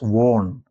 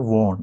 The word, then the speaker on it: won: W N is one but many students pronounce it as worn. It is not won.